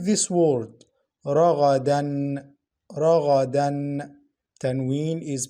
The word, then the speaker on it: رغدا: Like this word, ragadan, ragadan. Tanween is pronounced noon sakina. For tanween al-fatha only, we pronounce the first vowel in stoppage. Listen, رغدا, we pronounce the first vowel only, رغدا.